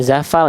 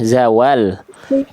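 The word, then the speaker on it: زوال: Oke, ini ada salah besar bukan zafal ya. Zawal. Ah, Bunda baca tadi apa? Zawal. Zawal. Allahu Akbar. Heeh. Tadi Bunda baca jadi zafal bukan fa ya.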